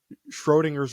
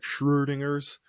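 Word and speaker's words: Schrödinger: work it's uh like Schrodinger's rankings and I think I pronounced that wrong because he's Austrian and a vet oh that umladed o is kind of like a ooh sounds like Schrodinger's rankings but that's neither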